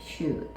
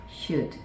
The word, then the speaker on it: should: 리을 소리가 안 난다라고 말씀을 드렸었던 기억이 있는데, 자, 여기 L 소리는 리을 소리 없애고, 그리고 O, U 같은 경우는 우 소리 또는 이제 주로 나오는 게 소리도 많이 나오는데, 여기서는 조금 우 소리, should, 이렇게 발음을 해주시면 되겠습니다.